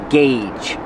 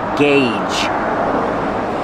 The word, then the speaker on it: gauge: lot of different gauges pronunciation gauge use the hard GG and the long a like say and pay gauge gauge gauge these are all